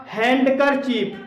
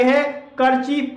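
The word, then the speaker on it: handkerchief: इसी तरह से अगला शब्द है हमारा हैंड करचीफ, तो इसमें हैंड अलग है, करचीफ अलग है। अगर इसे दोनों को एक साथ मिला के बोलेंगे तो इसे हैंकरचीफ बोलेंगे, ना कि इसे हैंडकरचीफ।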